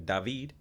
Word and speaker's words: David: that's my American name some people call me by my actual name dahveed and some people just